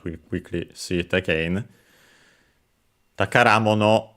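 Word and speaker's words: 宝: Then we have the, sorry, I didn't mention the accent of the takara on its own, accented on the final syllable, but the compound is unaccented, so be careful.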